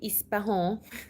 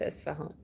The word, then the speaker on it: Isfahan: I don't know, maybe Arabic, and maybe it's the French effects, I don't know, because they say Ispahan, so maybe it's because of that, but we call it Isfahan.